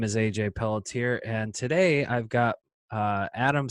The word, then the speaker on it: Pelletier: you all doing today my name is AJ Peltier and today I've got Adam Solomon from New